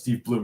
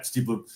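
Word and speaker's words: Steve Blum: Um I'm pretty sure it's pronounced Steve Bloom. Yeah, Steve Bloom.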